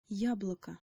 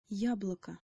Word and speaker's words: яблоко: be yob local but because the emphasis is on the first syllable of this word it becomes yeah blah